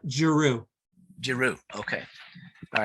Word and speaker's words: Giroud: Okay, and how do you pronounce that? It's Giroux.